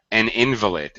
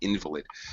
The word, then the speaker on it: invalid: that okay yes yeah an invalid we pronounce it completely differently somebody right somebody who's incapacitated by because of due to health problems is an invalid an invalid you said it correctly